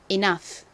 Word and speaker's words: enough: 핵심 g h가 옵니다 gh는 이렇게 단어의 끝부분에 쓰였을 때 주로처럼 소리가 난다고 말씀드렸죠 자 발음 같이 해 볼까요 enough enough 오케이 함께 써 보겠습니다